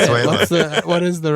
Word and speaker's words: Venezuela: He said like Vuvuzela. Venezuela. Well, how do you say it? Venezuela.